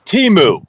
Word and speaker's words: Teemu: too oh Jody is saying it's pronounced TAMU Ed TAMU it's Teemu te M 52 awesome